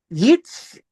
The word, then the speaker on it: Yitzraeli: And it's called the uh, Yitzraeli. Yitzraeli sounds like Israeli. The word J, the letter J, does not appear in the Hebrew language.